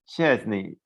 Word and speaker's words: Szczesny: Well, Szczesny, did I say it right? It's so difficult. Szczesny. Szczesny. It's more connected.